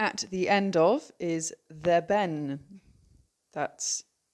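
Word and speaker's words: dhe ben: u g h at the end of is the ben That's d h e b e n and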